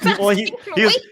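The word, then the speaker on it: oui: Well, he was going with the French thing, and I thought he was trying to be clever at the end. Sorry, Ian. We is spelled O-U-I.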